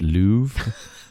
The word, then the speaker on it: Louvre: You sort of pronounce the R, but it's very faint at the end. So there's like a it's Louvre.